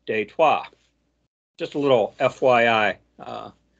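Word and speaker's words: Détroit: and for those unaware Detroit was originally a French settlement in Detroit pronounced in French is detwa just a little FYI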